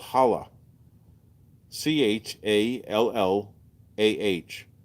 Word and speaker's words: challah: Shibata bread it's called challah ch a ll aah it's actually pronounced challah you got to get the hook the phlegm challah easy it's funny when